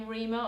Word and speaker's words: Rhema: However, it is inspired by another word that does sound the same, Reema, or some people say Rhema, which is spelled R-H-E-M-A.